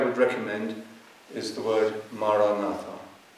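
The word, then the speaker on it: maranatha: recommend is the word maranata it's an ancient Christian prayer that means come Lord in the language that Jesus spoke and if you choose this word say it as four syllables ma ra na articulate the word clearly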